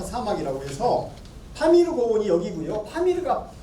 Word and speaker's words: 파미르: 파미르가 피읍 발음을 못했어요. 박을 팍이라고 하죠. 영어로도. 그러니까 파미르는 바미르죠. 바미르.